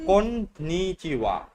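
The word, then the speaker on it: こんにちは: মানে আমরা কি করলাম কোনচি কোনচি ওটা হবে না। konnichiwa মানে আবার কোন গয়া নিচিওয়া konnichiwa কন্নিচুয়া। konnichiwa ওই যে konnichiwa মিস্ত্রিরা একটা ওই যে ইয়েতে প্লাস্টার করে না, ওটার নাম কন্নি, কন্নি, হ্যাঁ কন্নিচুয়া। konnichiwa আচ্ছা ওটার নাম হচ্ছে কন্নি, কন্নিচিওয়া।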